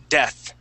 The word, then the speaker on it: death: word is death okay give me a good th sound death death okay now um how